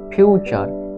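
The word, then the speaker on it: future: ইউ তে ফিউ ফিউ এখানে টা হওয়া উচিত ছিল কিন্তু চা হচ্ছে কেননা টি এর পরে ইউ লেটারটি থাকার জন্য তাহলে ফিউ চু তে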